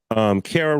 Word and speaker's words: Kara: Kara Rhymes with Sarah, welcome to the stage.